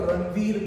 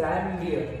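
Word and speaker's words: Ranvier: आप चाहते हो, लड़कियां चाहती है तो इसको रणवीर बोल सकते हो, बट रणवीर notes of रणवीर सुनकर रणवीर सिंह या रणवीर कपूर खुश नहीं होंगे, ठीक है, so let's not spoil our pronunciation, it इज रैनलियर, notes of रैनलियर, what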